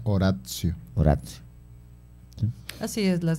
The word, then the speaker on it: oratio: Bueno, oratio se escribe, pero se pronuncia oratio.